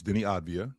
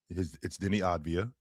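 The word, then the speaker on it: Deni Avdija: So it's Denny Avdija. Tone. It's Denny Avdija.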